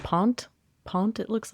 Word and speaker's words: pant: Pronounced pont. Pont. It looks like I say it wrong. Yes. And it means deposit or to deposit in. It's pont.